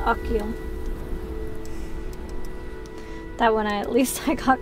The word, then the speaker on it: Achill: It's part of County Mayo, one of the five counties in the province of Connacht, pronounced Achill.